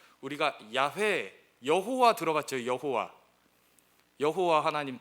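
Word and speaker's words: 야훼: 스스로 있는 자 우리가 야외에 여호와 들어갔죠 여호와 여호와 하나님 들어갔죠 그 여호와 가 히브리 씹 발음으로 하면 야외에 요 약은 따라해 볼까요 야외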